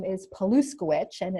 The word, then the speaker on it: Paluszkiewicz: who are taking notes my last name is paluska which and it's the way it sounds Polly